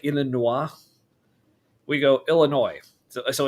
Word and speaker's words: Illinois: We go Illinois.